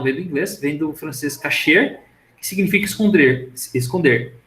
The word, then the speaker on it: cache: inglês dentro do francês casher significa esconder esconder e se pronuncia memória Cash tá não é memória cache tá bom se vocês ir